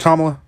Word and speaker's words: Kamala: Just because at a table with Kamala, is it Kamala?